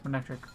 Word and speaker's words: Manectric: I know it's Manectric. I just like to pronounce it incorrectly sometimes.